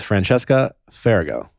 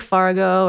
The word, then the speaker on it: Francesca Farago: those things where it's it's pronounced just the way it's spelled yeah some people say like fargo or some people even